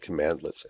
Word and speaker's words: cmdlet: commands that you use so just think of the shortened version cmd as being command and commandlets is how it's pronounced now command let's have